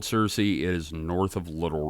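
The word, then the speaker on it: Searcy: forward it's actually pronounced Cersei uh like search so yeah kit wanted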